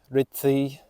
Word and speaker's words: Rhyd Ddu: I did say it right, or as right as an Englishman can say it. Rhyd-Ddu, double D sounds like a TH.